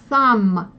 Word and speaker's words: thumb: Вот, thumb. Межзубный, видите, th, u в закрытом. Тут еще есть одно правило, тут буква b на конце не читается, мы с вами его тоже возьмем, сейчас можете просто запомнить.